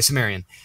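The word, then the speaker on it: Cimmerian: I think it's pronounced Chimerian. Sumerian. Okay, Sumerian.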